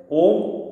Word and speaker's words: ओम: मुखातून बाहेर पडतात त्यामुळे ओम उच्चारण करताना आपला उच्चार हा शुद्ध स्वरूपात बाहेर पडत असताना अ उम ओम म्हणत असताना अ म्हणत असताना पोटावरील पोटातील व्हायब्रेशन वर लक्ष द्यायचंय अ उ म्हणत असताना छातीमधील व्हायब्रेशन स्पंदनावर लक्ष द्यायचंय अ